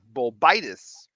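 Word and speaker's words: Bolbitis: Bulbitis. You have to put the emphasis on the second part.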